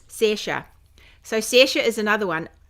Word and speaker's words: Saoirse: And she calls herself, I think there are two different ways of pronouncing it. And she calls herself one thing, but this is Saoirse. Anyway, that's how you say it.